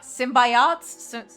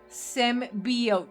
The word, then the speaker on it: symbiote: I love me some s symbi symbiots. Symbiot, right? That's how you pronounce it. But yeah, I mean, yeah. Yeah. The mate mutters something displeased and leaves. The footsteps fade away. Symbiote. Symbiote. Symbiote. Thank you.